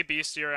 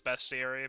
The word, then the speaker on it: bestiary: 655 and devons should be illegal I say beastiary I'm pretty sure the correct pronunciation is bestiary but oh God not that again I I